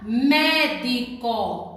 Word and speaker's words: médico: Ou proparoxítona, como a palavra médico. Observe que a palavra médico, a sílaba mais forte é o mé, a antepenúltima.